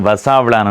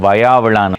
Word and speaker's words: வயாவிளான்: முன்னமே ஒரு தெளிவுபடுத்தல், நிறைய பேர் வசாவிளான் என்று சொல்கிறவர்கள், சில பேர் வயாவிளான் என்று சொல்கிறவர்கள். வயாவிளான் என்று உச்சரிக்கிறவர்கள் மிக குறைவு. ஆனால் இந்த ஊரினுடைய சரியான உச்சரிப்பு வயாவிளான்.